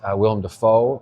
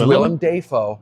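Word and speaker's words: Willem Dafoe: beluchi and we've got William defo who I love will defo I recently found out we've been saying his name wrong it's William Deo okay um but I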